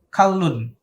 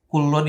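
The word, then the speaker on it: كَلٌّ: juz nya dibaca fathah ke harokatnya fathah bukan dhomah biasanya kan sering kalau lafadz Kulon itu kafnya dibaca di rumah ya tapi kalau di sini hal ini covernya dibaca fathah kita Contohkan Bismillahirohmanirohim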